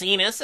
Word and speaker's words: Enis: "My name is Enis, it rhymes with penis, and I have one if you'd like to see it.